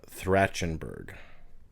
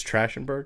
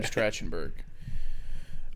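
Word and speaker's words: Trachtenberg: yeah I want director okay I might not pronounce this right but Dan thren Berg trash andberg it's actually it's trash andberg yeah Oh I thought you were saying like he was a bad director no tratenberg um he did I know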